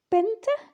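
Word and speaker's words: πέντε: like the game Tetris Benta now again the t is a bit of a D sound in modern Greek a bit softer exy um which is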